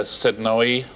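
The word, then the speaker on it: Sednaoui: Edie Campbell, model, and Elisa Sednoy. That's how you pronounce it.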